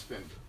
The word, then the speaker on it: Finder: It is Finder. It is. Rhymes with Tinder and Cinder.